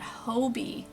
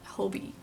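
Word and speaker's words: Hobbii: that um I just found out how to pronounce it it's called Hobie yarn I popped up on my Instagram and of how to pronounce I'm sure you a lot of seen the hobby yarn well they it's actually pronounced Hobie so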